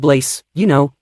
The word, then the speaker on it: Blaze: It's called Blase Taco Sauce. No, Mr. Emesis, it's called Blaze, rhymes with face or nutcase, not blase. There's no accent on the E.